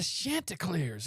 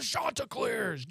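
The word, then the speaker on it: Chanticleers: You know, it's not the Shantlars, it's the Shantaars.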